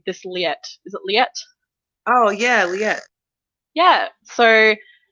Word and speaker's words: Liet: Oh yeah, we hear more about how do you pronounce this name? This Liet. Is it Liet?